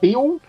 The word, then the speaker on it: Beale: So that's is it Beale? Am I pronouncing that right? Yeah, Beale.